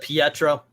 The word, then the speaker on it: Pietro: in in some ways i'm the only one that pronounces it pietro that's what i said